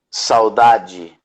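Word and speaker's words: saudades: it down s-a-u-d-a-d-e-s but you pronounce it j saudaji yeah you pronoun so d in portuguese is g the thing is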